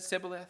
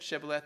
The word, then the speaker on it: Shibboleth: Depending on where you were from you pronounced the same letter as /sh/ or /s/, all right, some people said Sibboleth, some people said Shibboleth, they're saying the same word, right?